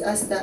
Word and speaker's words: Asta: Please, when you're talking to Esther, that is a very different person and she's not here. The person standing before you is AA. I thought I would really love to correct the pronunciation of the name.